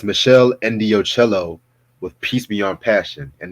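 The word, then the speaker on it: Meshell Ndegeocello: one of the Proto Neo Soul albums it's Michelle ello with peace Beyond passion and yes I did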